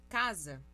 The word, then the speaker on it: casa: Casa se escreve com S. O som é de Z.